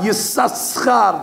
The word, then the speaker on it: Yisachar: The real pronunciation of Yisachar's name should be Yisachar. As a matter of fact, there are some Ashkenazim that's the way they pronounce Yisachar. Yisachar. They read every letter. We read it with a silent scene. We only pronounce one of them.